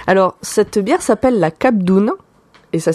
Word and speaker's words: Cap d'Ona: Alors, cette bière s'appelle la Cap d'Oune. Et ça s'écrit donc cap comme un cap dans la mer.